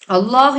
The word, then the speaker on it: அல்லாஹ்: முன்னுள் எழுத்துக்கு பேஷ் இருக்கு சோ இது வந்து ஜபரும் பேஷும் வந்தா இந்த அல்லாஹ் என்ற வார்த்தையை நம்ம வந்து வல்லினமாக உச்சரிக்கிறது இதுக்கு இன்னும் நிறைய உதாரணங்கள் பார்க்கணும் அப்படின்னா ஜபருக்கு உதாரணம் அதாவது அல்லாஹ் என்ற வார்த்தைக்கு முன்னுள் எழுத்துக்கு